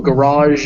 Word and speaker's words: garage: garage garage yeah so a garage is where you park that car on that final sound that goes that's one of these and there's no real way to spell it in english which is why i've used zh here to compare it to sh but um it's it's the